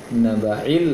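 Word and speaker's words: النبإ: Antara ain dengan hamzah di surat An-Naba, amma yatasaalun, ain terbaca hamzah, kemudian hamzah terbaca ain. Anin naba'il azim, tertukar dia. Seharusnya anin naba'il azim, yang pertama ain, yang naba'i itu adalah hamzah.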